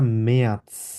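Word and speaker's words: März: আছে, ঠিক আছে, মেয়ার্স, ওকে, মেয়াৎস, ত উচ্চারণ হবে এখানে, ঠিক আছে, ত উচ্চারণ করে তারপরে স উচ্চারণ হবে, মেয়াৎস, মেয়ার্স।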